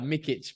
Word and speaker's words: Mikic: up your last name Mika Mika is close enough brother it's I think the critic pronunciation is uh mikich but it's a tricky one mikich all right well